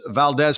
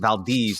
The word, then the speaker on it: Valdez: was the most disastrous Valdez performance since Exxon which was Exxon Valdes actually the pronunciation but the same fber